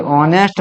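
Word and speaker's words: honest: अब देखिए ऑनेस्ट में एज साइलेंट होता है तो और से आ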